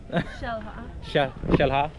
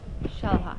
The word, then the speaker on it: Xel-Há: We just made it in to, how do you pronounce it again? Xel-Há. Xel-Há.